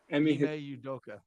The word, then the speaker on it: Ime Udoka: Ime Udoka.